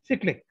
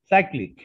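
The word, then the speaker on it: cyclic: xyz হচ্ছে সিক্লিক, অর্থাৎ সাইক্লিক অর্ডারে গেল। xyz সাইক্লিক, কোনটা উচ্চারণ, সিক্লিক না সাইক্লিক? সাইক্লিক মানে xyz, আর এখানে দেখো xzy।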